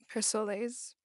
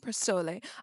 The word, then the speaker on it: Persol: By the way, I know this brand of glasses is pronounced Persol, not Persole.